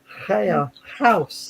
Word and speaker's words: chaos: My favorite one for doing artwork from a fractal still is chaos, with the X pronounced as in Greek for chaos. And this is it, Kaya, house.